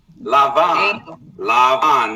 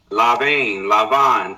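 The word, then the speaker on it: לבן: This is how you say white in Hebrew. I'm going to show y'all. Lavan. This is the root, okay? Lamed Beit Nun, to be white. Okay? Lavan, to be white.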